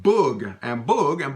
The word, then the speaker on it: boug: but in Louisiana French, we would say un boug, okay?